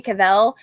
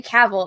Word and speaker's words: Cavill: uh like so people let's say henry cavell and it's like no it's henry cavill and he did a google thing where he answers questions from google and he's just like there with this selfie camera and he's just like it's cavil like travel okay yeah there was